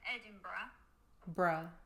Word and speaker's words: Edinburgh: could use Le sass it's not like Hamburg or Pittsburgh yeah cuz I said Berg now I've got a sentence for you she's so mad so that you will pronounce this word correctly every time she looks so over it that if you're heading to Edinburgh bra wear a bra there we go wear